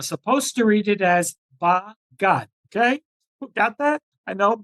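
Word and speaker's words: בגד: in the Bible text, we are not supposed to read it as it's written. We're supposed to read it differently with a separation in the syllable. And even though in Hebrew it says bagad, as one word, bagad, which means to betray, as I said, we're supposed to read it in two separate words.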